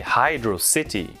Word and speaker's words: Hydrocity: You plummet into Hydrocity Zone. I used to say Hydrocity. Apparently, Yuji Naka thinks that's the correct way to say it.